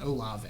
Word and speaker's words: Olave: calling him just ol is that how you say his last name yeah just olave yeah okay you got right seems wrong for some